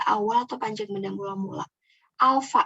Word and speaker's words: alfa: Alfa, ini dibacanya alfa.